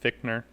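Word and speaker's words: Fichtner: and you you know real quick it's pronounced fichner victor it's pronounced fickner yeah i've met him oh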